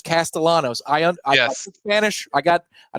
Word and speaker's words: Castellanos: question in the chat is that how you you pronounce it Castellanos it's not like Nick Castellanos I swear every play-by-play guy in the country says castalanos I Spanish I got